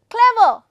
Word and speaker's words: clever: syllable same as now for example clever clever clever is a word ejective could be used as an adjective c will take the stress on that okay clear so let's